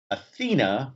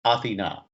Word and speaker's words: Athena: my wife is greek and uh most people pronounce it athena but the greek pronunciation is athena am i correct i hope you are correct